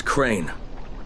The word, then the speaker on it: Crane: no my name is crane okay crane rhymes with train and pray and say and gray and rain and plane and the other kind